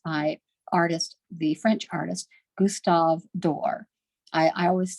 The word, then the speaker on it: Doré: Here is, this illustration is by the French artist, Gustave Doré. I always say Doré, but I know it's Dor. You don't pronounce that E at the end.